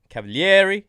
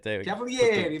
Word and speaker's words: Cavalieri: Today we have a very special guest, Cavalieri. Am I saying it right? You got it right. Cavalieri, Very Italian.